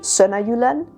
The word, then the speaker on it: Sønderjylland: In Danish it would be Sønderjylland, and in German it would be Sydjutland.